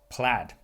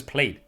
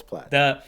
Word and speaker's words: Plaid: tesla model s uh plaid is how you say i i thought it was played because that's like no it's plaid the tesla model s